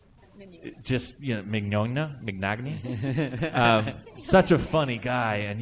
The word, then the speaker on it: Mignogna: Just Mignogna, such a funny guy, and you guys are all just cracking jokes, and I'm trying to take it seriously.